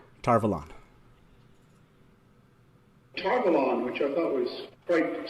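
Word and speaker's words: Tar Valon: fine so let's play robert jordan saying tarvalan tarvalon which i thought was quite self-evident togalon which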